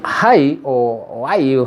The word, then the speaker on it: Hai: Pero había una ciudad muy pequeña, más pequeña que Jericó, Hai, Hai, creo que se pronuncia en la Biblia, ¿verdad? Se escribe con H-A-I.